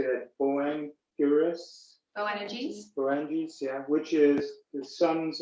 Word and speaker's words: Boanerges: Boanerges, yeah, which is the sons of thunder.